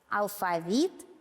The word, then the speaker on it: алфавит: слове это ударение согласно слова алфавит и банты написаны с указанием правильного ударного гласного звука алфавит банты слова которые пишутся